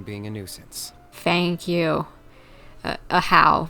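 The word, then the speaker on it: Ajaw: a nuisance thank you a how that's how we pronounce his name wait isn't that a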